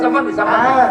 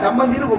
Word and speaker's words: சம்பந்தி: சமந்தின்னு சோறு சாப்பிட்டு போறேன் சம்மந்தினா உச்சரிப்பு தப்பு அப்படி கூப்பிடக்கூடாது சம்னா நல்ல மந்தினா குரங்கு வாங்க நல்ல குரங்கே அவரும் ஆமா குரங்குன்னு சோறு அப்போ எப்படி கூப்பிடணும் சம்னா நல்ல பந்தம்னா உறவே வாங்க நல்ல உறவு சம் பந்தி அப்படின்னு சொல்லணும் ஒரு பாட்டு பாடுனேன்